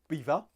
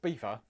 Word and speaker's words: Belvoir: It's spelled Belvoi. How does he get beaver out of that? It's Belvoir, isn't it?